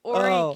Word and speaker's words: Horry: I pronounced it wrong. It's Horry County. The H is no, 16. it isn't.